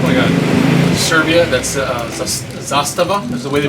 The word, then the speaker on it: Zastava: from um oh my God Serbia that's uh Zastava is the way they pronounce it I don't know what I mean